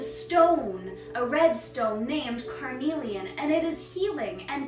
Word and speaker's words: Carnelian: Carnelian. It's very interesting because there's a stone, a red stone named Carnelian, and it is healing, and Carnelian is a healer.